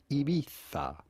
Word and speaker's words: Ibiza: So how would you go about pronouncing the name of this island? Simply Ibiza.